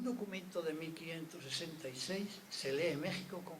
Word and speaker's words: México: No queda más remedio que reconocer la multiplicidad de soluciones gráficas para transcribir el topónimo México, cuya X reflejaba el sonido sh del topónimo en náhuatl.